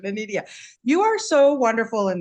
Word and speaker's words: Inedia: Anita, how do you pronounce Anidia? Anidia. Ania. Okay, I wanted to get the correct pronunciation. Anidia, you are so wonderful in this and it's such a powerful story.